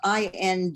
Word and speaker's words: indicted: a lawyer role and the word was i-n-d-i-c-t-e-d which the c is silent it's indicted and she said indicted